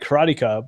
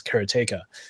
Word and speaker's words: Karateka: I always called it karateka, but then karateka, I guess Jordan Mechner himself actually refers to the game as karateka. So I'll go with that.